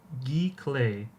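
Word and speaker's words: giclée: Unfortunately, most of these things pronounced gee clay.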